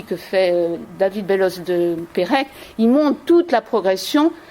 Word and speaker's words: Perec: On prononce Pérec, mais on ne met pas d'accent sur Pérec.